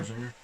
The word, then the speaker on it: Scherzinger: Nicole Scherzinger? Scherzinger? Yeah. Yeah, her. Scherzinger.